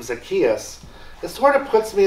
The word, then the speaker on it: Zacchaeus: Luke focusing on Zacchaeus just to get the pronunciation correct um but Zacchaeus Was a tax collector now if you've been